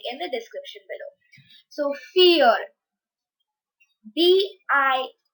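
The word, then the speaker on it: vier: d r e i before is said as fear fear it's not weird it's fear so v is pronounced as pow so fear and if you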